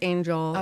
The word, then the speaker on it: Engel: was actually brow Angel it means angel in German and Swedish so it's just pronounced angel in the languages so and it's my